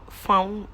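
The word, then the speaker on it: fawn: But I the color is farm farm color. F farm maybe I did not pronounce it. F A W N colored is the is in the family of brown.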